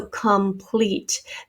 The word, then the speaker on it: complete: So complete. This O has become a schwa sound.